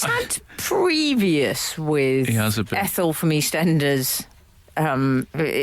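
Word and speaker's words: EastEnders: previous with Ethel from East Enders um mispronunciation he called her e standers yeah he called Benjamin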